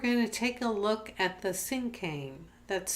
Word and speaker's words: cinquain: we're going to take a look at the sinkhang that's spelled s or excuse me c-i-n-q-u-a-i-n it's a